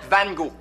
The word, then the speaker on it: Van Gogh: T'en as encore tes cours de peinture, Van Gogh? Van Gogh, pa. Ça se prononce Van Gogh.